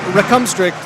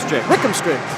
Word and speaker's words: Rickumstrict: I keep wanting to put the emphasis on his second syllable, and that's not right. Obi Rickumstrict. I did it again. Rickumstrict.